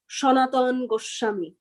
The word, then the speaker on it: Sanatana Goswami: he says he said sanatana gosvami he pronounced it he pronounces it as shonatan goshami you know that's how in bengali he pronounces it as so then these